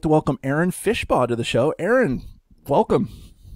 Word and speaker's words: Aaron Fishbaugh: him for real but I'd like to welcome Aaron fishpaw to the show Aaron welcome well thank you